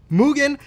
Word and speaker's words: Mugen: No, it's Mugen. Cue the Japanese car guy, please. The correct pronunciation is Mugen.